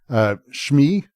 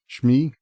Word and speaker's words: Shmi: Shmi is like one of the most important characters in the series, and you're supposed to care about her. Shmi.